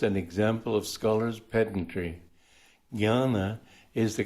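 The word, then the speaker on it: jnana: like to spell it Master scoffed it is pronounce janana and how else are you going to pronounce it if you find it spelled that way this is just an example of Scholars pedantry Gana is the correct pronunciation the gy and English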